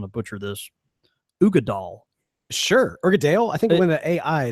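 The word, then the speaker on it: Uigeadail: It's Ugadale. It's called. I think it's called Ugadale or Ugadal, one or the other. But it's spelled Uigeadal.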